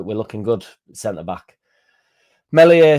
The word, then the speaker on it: Meslier: Melier silent s. Messier silent s has been linked apparently with Leicester.